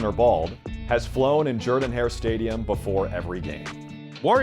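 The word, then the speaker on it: Jordan-Hare: red glow at night Jordan hair stadium and yes that's actually how you say it came along 10 years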